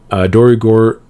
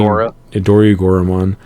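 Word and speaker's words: Dorugoramon: Agumon they play, but Dorigor, I don't think that's how you say it. I think it's saying Dorigoramon, and deck signs are all X-Ante.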